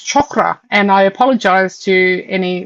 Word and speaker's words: chakra: um you see um people say chakra Ra and chakra and it's chakra and I apologize to